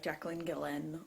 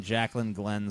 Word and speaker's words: Jacqueline Glenn: Any other of the YouTubers like Jacqueline Gillen or anyone else, or with your brother? It seems like she put an extra syllable in Jacqueline Glenn somewhere.